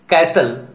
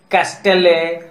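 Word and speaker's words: castle: Listen, कैसल, व्हिसल. यहां लिस्टेने, कैस्टेले, व्हिस्टेले तो नहीं बोलेंगे ना, बोलने में भी अजीब लगेगा और फ्लुएंसी में भी दिक्कत होगी, इसीलिए यहां टी को साइलेंट किया गया है.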